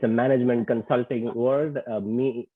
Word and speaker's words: MECE: Look up MECE. It's a management consulting word. MECE. It's pronounced MECE, like I said, which talks about these building blocks really being mutually exclusive but collectively exhaustive.